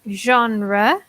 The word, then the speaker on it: genre: understand both it also be careful with pronunciation when we talk about genre fancy nation is like this Jean rougher squad I don't apologize don't worry exactly the J is very soft yeah so it's on